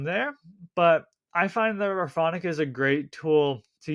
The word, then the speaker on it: Rephonic: little bit from there but I find that Raonic is a great tool to use and for